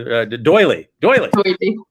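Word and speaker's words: D'Oyly: No, how do I pronounce his name? You told me Doyley.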